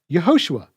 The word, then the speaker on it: Yahushua: sacred name point is yahushua's name is pronounced yahushua exactly as it's written in the Hebrew so what then does